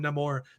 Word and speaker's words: Namor: they don't have so they pronounce him not more and the the freaking showrunner in an interview who said yeah we call him no more because he's a Nino